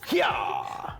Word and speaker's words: Hyaaah: So that's the proper pronunciation is Hyaaah.